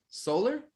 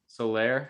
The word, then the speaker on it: Soler: Solar, Solaire, I think Soler, is how you say it.